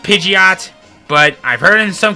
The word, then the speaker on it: Pidgeot: evolve by then pitching it i know it's pronounced pidgeot but i've heard in some cases in the